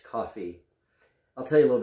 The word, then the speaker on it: Cuffee: commemoration of paul coffey i had been pronouncing it today as a coffee as part of a french but it's coffee i'll tell you a